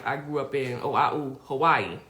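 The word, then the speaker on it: Hawaiʻi: point it was like oh wow because like Hawaii h a but it's you know pronounced is actually pronounced avayi and then Haiti which is pronounced right and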